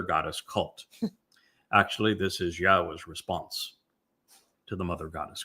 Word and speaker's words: Yahowah: Now imagine the single most important discovery that I made along the way is to prove that Yahwa's name YHWH is pronounced Yahwa.